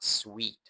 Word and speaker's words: suite: ยอด มาก ๆ เลย อีก รอบ นะ มัน อ่าน ว่า sweet นะ ครับ ไม่ ใช่ ห้อง สูตร นะ มัน คือ sweet นั่น เอง ครับ ส่วน คำ ๆ นี้